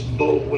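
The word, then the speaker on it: Boulware: It's Bowler is how it looks.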